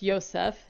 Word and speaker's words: Joseph: It's It's pronounced Yoseph.